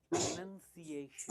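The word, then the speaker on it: pronunciation: हम कहते हैं प्रोनाउंस्ड या प्रोनाउंसिंग, पर इसे कहते हैं प्रोनंसिएशन। इसमें कोई नाउन नहीं, राइट?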